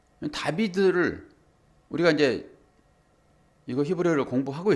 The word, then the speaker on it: 다비드: 그런데 이게 다윗이라고 했을 때 이것은 다비드거든요. 다비드. 다빗을 우리는 다윗이라고 읽어요. 다비드를 우리가 이제 이거 히브리어를 공부하고 있으니까 알파벳 공부하고 있잖아요, 지금.